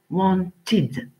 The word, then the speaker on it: wanted: Et quand le son de la finale de la base verbale est t, alors le d se prononce en. Wanted.